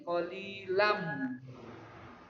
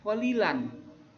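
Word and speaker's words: قليلا: Nah, di sini cara membacanya qalilam, bukan qalilan, Tapi qalilam, tanwinnya itu dimasukkan ke huruf mim, maka disebut dengan idgham bi gunnah.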